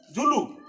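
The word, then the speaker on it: Zulu: तो ये कह रहा है कि आंट ईटर से जुलस तक, जुलू, इसका प्रोनाउंसिएशन देखिए, जुलू।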